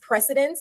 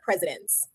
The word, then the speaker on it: precedence: And the pronunciation is precedence, not presidents.